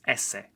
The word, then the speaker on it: ese: has a different name in English it's s but in Spanish it's ESS here are some examples